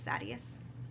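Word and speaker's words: Sadeas: Again, I know people say his name is Sadius. Sidious is how I say it.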